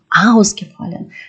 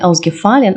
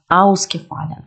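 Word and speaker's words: ausgefallen: часі якщо вас відокремлюється він вимовляється з наголосом аускефален не аугфалін а аускефален і інше дієсловофн подобатисяхн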